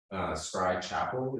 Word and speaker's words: Scry Chapel: Scry Chapel is how you pronounce the business name. It's a Belgian town of Scry, and there's a church there, so the name's inspired by that.